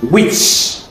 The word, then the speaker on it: witch: Number 20, witch. The T is silent.